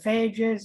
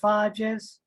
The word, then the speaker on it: phages: For bacteria viruses that we call bacteriophages, and occasionally it's shortened to phages or phages. Both pronunciations are correct.